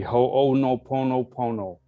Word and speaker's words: Ho'oponopono: always have trouble saying it but it's the ho no pono pono prayer it's spelt h-o and then it has an apostrophe